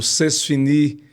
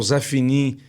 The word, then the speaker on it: c'est fini: Mas aí como a gente aproveita muita coisa do francês, o o c'est fini, né? Que é o zé fini do, do, do matuto, né?